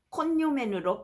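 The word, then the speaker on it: cognomen: 때는 앞으로 카이사르로 칭하겠습니다 라틴어에서 gn이 붙어 있을 때 그 발음은 혀를 꾹 눌러 다림질하듯이 뉴 식으로 발음하는데요 가문의 성씨를 뜻하는 코그노맨은 콘요맨으로 발음해야 합니다 수념에는 주로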